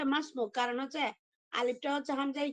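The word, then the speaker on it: ما اسمك: উচ্চারণ হবে যেমন মাসমুক যেমন আমরা বলি না মাসমুক তোমার নাম কি এটা কি মা ইসমুকা পড়বেন না মাসমুক পড়বেন বলি আমরা শুদ্ধ হচ্ছে মাসমুক কারণ হচ্ছে আলিফটা হচ্ছে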